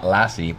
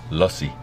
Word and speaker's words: lassi: fresh right yum and it's not lassi it's lussy oh man i learned you know i got people hated on me about it they were like you're saying it wrong i'm like okay okay